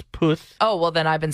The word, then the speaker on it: Puth: kelly clarkson i believe his name is charlie puff no it's poof oh well then i've